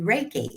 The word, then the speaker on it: Reiki: facials and massage and things, but you do Reiki. Am I saying that right?